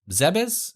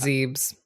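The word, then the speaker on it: Zebes: tank and lost in I always forget how to say this zebis is that how you say it is I believe it's zebs zebs uh gives the same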